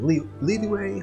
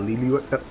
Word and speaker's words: Liyue: realize the pronunciation of Liyue. Liyue? Yeah, like it just basically, like, as soon as I realized that it's just those are two different, like, syllables, so to speak. It's Li and Yue.